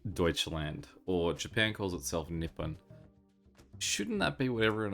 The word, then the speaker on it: Nippon: so uh Japan or uh in Japanese it's Nippon one thing I always wondered about with this